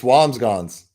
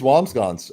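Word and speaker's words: Wambsganss: It is Wamsggons. I'm looking at the pronunciation right now. Whams and then G-S. Wamsggons.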